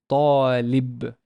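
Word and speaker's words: طالب: There's no vowel on the ta, so I know it's a long vowel alif because of the alif here. So it's talib, talib, which is a student.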